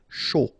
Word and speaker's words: chaud: Final D not pronounced, and then when you combine this C and H, you get the sh sound. A and U, O. Chaud.